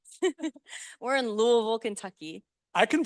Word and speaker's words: Louisville: We're in Louisville, Kentucky. I can pronounce it.